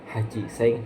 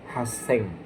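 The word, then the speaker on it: 八千: Dia bukan haji seng tapi haseng, ya.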